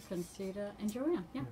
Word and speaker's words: Conceita: She said Conceita is like poinsettia. Conceita. Conceita.